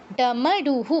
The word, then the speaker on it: ডমরু: যুক্ত হবে দত্ত ডামারুহু ডমারুহু বাংলায় বা হিন্দিতে ডামরু বলি না আমরা হিন্দিতে ডামরু বলিং বাংলায় বাংলায়ও ডমরু বলি। কিন্তু সংস্কৃতে এটা কিন্তু ডমরু ডামরু বলা যাবে না।